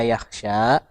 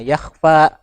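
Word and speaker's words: يخشى: Kemudian di saya zakkaru may yakhsha, harusnya yakhsha. Nah, tadi terbacanya yakhfa. Nah, jadi harus diperhatikan lagi hafalannya ya.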